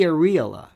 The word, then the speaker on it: areola: I suggest that those are not breasts, but those are nipples, not the areola or areola as is mispronounced, but that to me, I mean, if